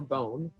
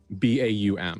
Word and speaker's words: Baum: Marcus Baum or Bone? Baum.